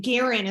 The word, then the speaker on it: Guerin: it so we have garan is how you say your last name right okay I was working